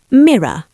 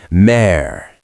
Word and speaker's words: mirror: 2 distinct syllables, but very tight. Now, Daisy, I want you to try to say it like me, like a guy from New York. Oh dear. I shall try. Don't just try. Look at me, or imagine you're looking in a mirror. Drop your jaw, relax your tongue. It's almost 1 syllable.